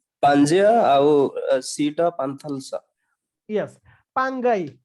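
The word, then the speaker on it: Pangaea: आउ सीटा पांथलसा यस पांगाई पांजिया नो तार प्रोनाउंसिएशन हला पांगाई ओके ए जो लैंड ता थिला एटा को पांगाई बोली कहा जाउतला ओके पांजिया भी नॉर्मली कहि दियोते एटार एक्चुअल प्रोनाउंसिएशन ता होसी पांगाई ओके याको पांगाई कहा जाउतला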